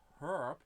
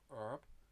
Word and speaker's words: herb: of people pronounce it herb instead of herb but I'm pretty sure even in English the H is silent right why am I